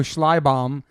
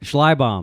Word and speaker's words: Schleibaum: It's German. Sick. It was mangled by my ancestors who came over through Ellis Island. So it's not even the right spelling or the right pronunciation. It's not. But we're Americans. So that's how we say it. So how do you say it? Schleibaum. Okay, but I don't even know if Schleibaum. I'm saying it right. But that's how I say it.